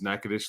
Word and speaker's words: Natchitoches: they make them, is Natchitoches, Louisiana. And if you look at the way Natchitoches is spelled, you wouldn't think that you're calling it Natchitoches. It looks like Natchitoches or something, but not to be